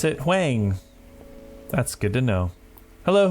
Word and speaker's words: Huang: So now I know how to pronounce it. Huang.